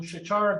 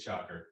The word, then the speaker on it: Shachar: next week we will hear from Shachara. I'm sorry, It's Shocker. Shocker.